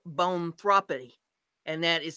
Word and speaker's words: boanthropy: People can suffer from a psychological disorder called bonthropy, and that is spelled BOANTHROPY, that makes them believe that they are a cow.